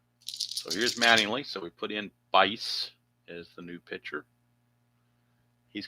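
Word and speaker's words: Buice: I was pronouncing the U and calling him Bwice like twice, but it's actually Bice, is what I was told.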